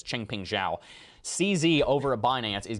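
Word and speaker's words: Changpeng Zhao: entire cryptocurrency space and knows how to say his name is ching ping zhao cz over a binance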